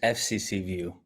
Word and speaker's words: FCCview: Well, it is FCC view.